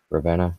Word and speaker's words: Ravenna: And then I watched the video of it being delivered to, I can't even pronounce it, Raviana or whatever. Ravenna. I think it's Ravenna. Ravenna, yeah.